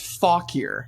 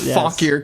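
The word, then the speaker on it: Fauquier: So, it's actually pronounced fauler like that was close.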